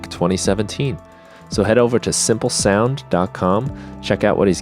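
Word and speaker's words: Symplesound: got a site called simple sound that simple spelt with a Y sound so sy MP le sou and decom so simple sound is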